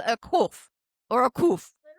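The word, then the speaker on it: קוף: Koof.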